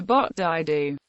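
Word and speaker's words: 八大道: The Cantonese pronunciation for 8th Avenue sounds out to Bot Dai Du.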